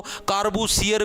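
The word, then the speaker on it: Le Corbusier: कार्बुजियर भी बोल देते इसको। कारबूसियर भी बोल देते हैं। ये हिंदी के अंदर प्रोनाउंसिएशन करने के अंदर दिक्कत आने लगी।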